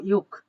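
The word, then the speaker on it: 육: আমরা পূর্ণাঙ্গ ইউ লিখলাম তারপরে নিচে গিউগ আছে আপনারা জানেন যে গিউগ বর্ণটা নিচে বসলে হয় ক তাহলে দেখেন উচ্চারণ হলো ইউক ই উক তাহলে প্রথমে ইয় উচ্চারণ করেন তারপরে উক উক এই ইউক শব্দের অর্থ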